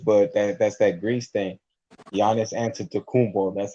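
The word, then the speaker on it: Giannis Antetokounmpo: the greek freak but that's that grease thing giannis answered to kumbo that's how you pronounce his name oh yeah cause i was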